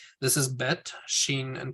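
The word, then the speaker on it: שין: pronounced as in ball Sheen is pronounced is in shock Tov is pronounced t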